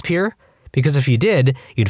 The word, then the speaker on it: Pierre: capital of South Dakota Pier wrong. She kept saying Pierre, two syllables, like the French name, and he said it was pier, one syllable, like what you fish off of.